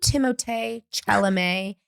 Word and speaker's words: Timothée Chalamet: Do you think Timothée Chalamet and Kylie? Thank you for using the correct pronunciation, because he will forever be a Victorian doll come to life.